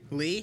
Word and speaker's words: Lee: Lee? I don't think it's that hard. As in. like Re. yeah. Yeah. Okay, so it rhymes with Ree.